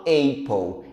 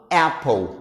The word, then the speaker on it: apple: É por isso que, por exemplo, apple não se pronuncia respeitando a regra do Silent E. Eu não falo apple, eu falo apple, porque aqui eu tenho duas consoantes. Logo, o som do A, ele é um som curto.